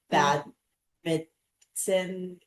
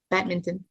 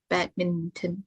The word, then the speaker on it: badminton: Badminton. Yeah, you pronounce the the first N as well. Badminton. Yeah, bad mitten. Bad Oh, and the T.